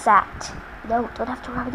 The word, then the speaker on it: CAGT: It's pronounced SAT.